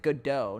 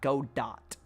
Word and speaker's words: Godot: I pronounce it Godot, not Godot.